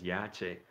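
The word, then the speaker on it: Yashe: So we had wrote it Y-A-S-H-E in order to help bring the brothers and sisters along, even though we're continually telling you all the true pronunciation is Yache.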